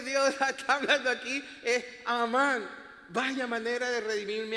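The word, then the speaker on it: אמן: La tercera letra, esa es la nun. Y como no tiene nada, ningún puntico extra consonante y se pronuncia como una nun. Ahora yo les he dado ya las vocales de esas tres letras. ¿Saben cómo se pronuncia eso? Pónmela ahí, por favor. Amán.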